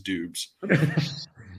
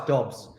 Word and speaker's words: Dobbs: I don't care what anyone says how his name's pronounced. His name is Doobs. It was that up until the draft. It was Doobs. And then all of a sudden he went into the draft and I was going, it's Dobbs. Yeah, it's not. It's not how it's spelled.